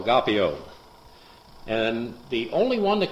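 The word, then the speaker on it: agapao: Now, agape is spelled A-G-A-P-A-O, agapeo.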